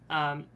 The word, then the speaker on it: Naoya: It's na. It's not ne. Naoya. In Japanese, whenever it's ne, it's ne, and whenever it's Oh. na, it's almost always a long a sound.